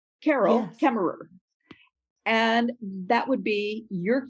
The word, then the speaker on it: Carol Kaemmerer: my name and you would hear me say carol kemmerer carol kemmerer and that would be your cue that you would know how to pronounce my name when we meet yes and